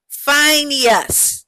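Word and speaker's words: Phinehas: So, it looks like that is a long I and a long E and a short A. Finus. Fineas is his name and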